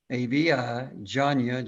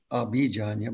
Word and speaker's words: Avijanya: Avi, A-V-I, Janya, J-A-N-Y-A, Visha, AVI. J-A-N-Y-A, Avijanya. Sometimes you'll pronounce it Abhijanya, but I think both are Okay.